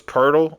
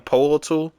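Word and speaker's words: Pöltl: Uh Jacob Purle, I heard his name was Ple. I kept saying Polal, but some people told me it's Ple. So I guess that OE is like some kind of weird pronunciation.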